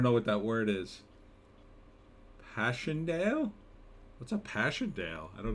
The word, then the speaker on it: Passchendaele: Passchendaele, good pronunciation.